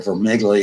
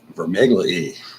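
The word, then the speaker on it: Vermigli: revolts of 1549 and Peter for niggly he was a table companion with Tom Cranmer Lambeth and helped him write the rebuttal to the Cornish death cherry rebellion it's actually vermi Glee and Tom took it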